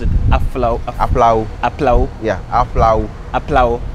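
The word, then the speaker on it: Aflao: How did you pronounce it? Aplau.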